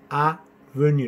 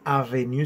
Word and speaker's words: avenue: Avenue. No es avenue, sino avenue.